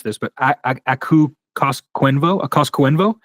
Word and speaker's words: Koskenvuo: I'm looking at your top 20 list here, and I know you have, I'm going to mispronounce this, but Aku Koskenvuo? Koskenvuo, yep. Koskenvuo, okay.